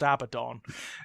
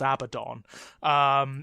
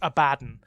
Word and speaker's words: Abaddon: original name that he's based on is it's pronounced Abaddon yeah the demonic character from Talmudic mythology is pronounced Abaddon I think I think in Games Workshop terms he is it is officially pronounced abadan because it's a joke yeah yeah it's it's